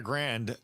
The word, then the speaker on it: Grande: So yeah, if you're Ariana Grande, how do you say it? Grande?